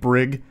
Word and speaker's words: Brig: I knew a kid growing up named Brig, Hard G, which I actually like better, though more likely to be mispronounced.